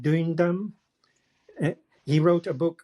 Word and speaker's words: Duindam: I think you pronounce it Duindam.